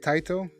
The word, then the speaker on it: Taito: That's how you say it, Taito?